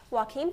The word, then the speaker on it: Joaquin: The next one is just a couple days later at the opening of We Own the Night, starring Robert Duvall, Joaquin Phoenix, I said it right this time, and Mark Wahlberg.